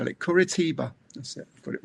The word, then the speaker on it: Curitiba: Kuritiba.